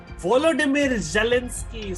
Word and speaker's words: Volodymyr Zelensky: Vladimir Zelensky. Volodymyr Zelensky, says Krishan Pal, and such a nice pronunciation as well.